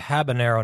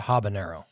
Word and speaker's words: habanero: do to anybody yeah so it's pronounced habanero not habanero whatever yeah well y'all been saying habanero not habanero so i thought maybe i've been saying it wrong i it's probably pronounced i noticed my fat dick i mean i don't know you're probably supposed to roll your r's too but i don't